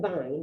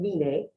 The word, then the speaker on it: vine: Ise, vine, I know it looks like vine, but it's pronounced vine, and quise.